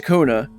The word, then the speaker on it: Koana: I always pronounced it Koana because that's how they pronounced it before. And then they switched to Kona, and then Wooklamot just called him Koana. So I'm just going to say whichever one I feel like, because clearly they don't care.